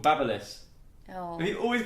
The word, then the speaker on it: Babyliss: No, it's called Babyliss. Oh, Have you always called it Baby Bliss? always called it a Baby Bliss.